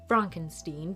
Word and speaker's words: Frankenstein: It begins with Frederick Frankenstein, or as Frederick likes to pronounce it, Fronkensteen, because he wants nothing to do with his grandfather, Victor Frankenstein.